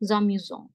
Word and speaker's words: amusants: S is for making it plural. T is the last letter. So amusants. Amusants.